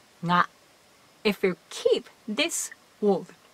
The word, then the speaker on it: が: So, the particle ga should be pronounced always nga if you keep this word.